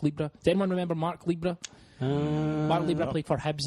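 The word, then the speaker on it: Libbra: Mark Libra. No one remember Mark Libra? Does anyone remember Mark Libra? Mark Libra played for Hibs and I think he scored about 20 goals. Name rhymes with zebra.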